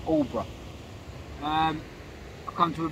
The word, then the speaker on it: Aldeburgh: and fishing tonight i'm in all bruh suffolk or if it's spelled aldebar everyone calls it all bro um i've come to